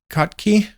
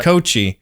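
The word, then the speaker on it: Kotche: Is it Kot Kotkkey? Uh, oh. Uh, uh, uh, Coochi. Yeah. Coochi.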